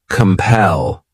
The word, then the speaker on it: compel: next verb is compel this word has two syllables and the stress is on that second syllable compel what it means is